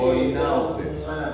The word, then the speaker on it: Coinaud: Entonces, esta clasificación funcional hace que ocurra la segmentación hepática que fue descrita por Coinaud, como se pronuncia, Coinaud, C-O-I-N-A-U-D, que es francés, y los otros Pérez y Suárez son uruguayos y argentinos.